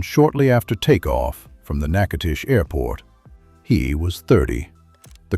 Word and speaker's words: Natchitoches: Pronounced Natchitoches.